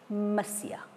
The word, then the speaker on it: Monsieur: M is short for Masia. It is pronounced Masia. Just as in English, we write capital M, R, point, and we pronounce it Mr.